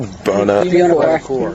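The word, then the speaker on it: Buonocore: How do you pronounce that? Buonacore.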